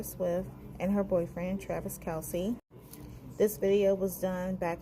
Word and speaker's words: Kelce: me I admit my mistake I know it's Kelsey it's pronounced in that way and it is not